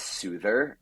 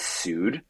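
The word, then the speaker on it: Soothr: had quite the experience at what most people pronounce as Soother but what I believe the correct pronunciation is Su which is a Thai place in the East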